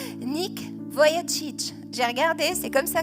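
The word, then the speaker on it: Vujicic: de d'un homme qui s'appelle attention à la prononciation Nick VOC j'ai regardé c'est comme ça que ça se prononce moi je disais V jissic mais c'est pas ça voilà voilà un évangéliste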